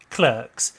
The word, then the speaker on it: Clerks: a very good sequel clocks or to use the American pronunciation used within the film clerks is a breakout indie